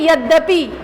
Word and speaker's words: यद्यपि: जैसे यदि और अपि, तो इसको उच्चारण कैसे करें, यद्यपि, आधा द हो गया यद्यपि।